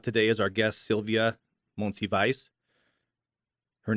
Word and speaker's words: Monsivais: And here to talk about today is our guest, Sylvia Monsivais. Her name is so awesome, I have to say it again, Sylvia Monsivais.